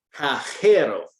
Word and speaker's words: cajero: You're trying to pronounce it like a J in English, right? Yeah, like reading it. Remember, Spanish Santa says ho, ho, ho.